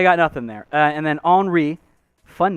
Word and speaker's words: Henri: Henri Saint-Armeur. Say it straight. No. You got to say it French no matter what.